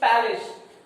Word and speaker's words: palace: Not place. কেউ কিন্তু place উচ্চারণ করবে না. The proper pronunciation is palace.